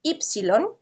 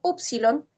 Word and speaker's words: upsilon: Así que cuando ustedes escuchen a alguien decir ypsilon, no es incorrecto. Y cuando dicen upsilon, tampoco es incorrecto, ¿sí?